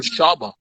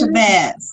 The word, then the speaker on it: Shabazz: I was about to call him Shaba. Shaba. No, it's Shabazz.